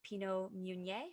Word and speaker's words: Pinot Meunier: ones they use are Chardonnay, Pinot Noir, and Pinot Meunier, I think is how you say it.